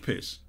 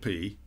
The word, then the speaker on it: Pis: The mannequin pee is pronounced pee, not piss, as the good doctor so brilliantly enunciated.